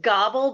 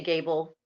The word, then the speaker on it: Gabel: It's Gobble, but I say Gable because it's easier for everybody. It's German. And it's actually pronounced Gobble.